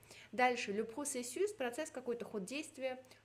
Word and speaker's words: processus: Дальше, le processus, процесс, какой-то ход действия, le processus, S читается, l'infarctus, S тоже на конце читается.